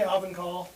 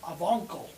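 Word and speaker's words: Ovangkol: I say Ovenkal. I say Ovenkal. Ovenkal. Tomato, tomato. I don't. I had somebody that told me I had to put the G in there. Avonkel.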